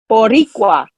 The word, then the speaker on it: Boricua: It's all about rolling the R's. You roll your R's and you'll get it right.